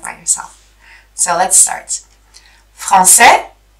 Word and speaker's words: français: You see, français, we don't pronounce the S. Française, we pronounce it because it's no longer the last letter.